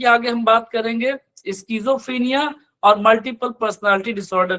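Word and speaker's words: schizophrenia: यहाँ पर एक जो बहुत कॉमन डिसऑर्डर है स्कीजोफ्रीनिया, इसको हम लोग बहुत बार गलत प्रोनाउंसिएट करते हैं, सीजोफ्रीनिया कहते हैं, सही प्रोनाउंसिएशन है इसका स्कीजोफ्रीनिया।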